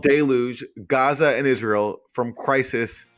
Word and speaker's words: Deluge: You also said deluge instead of deluge, which was interesting. I said deluge. Yeah, deluge. Yeah. But it's deluge.